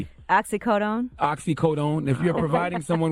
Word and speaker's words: oxycodone: someone with a high you pronounce it oxy cotton oxy codeine I pronounce it oxycodone oxycodone if you're providing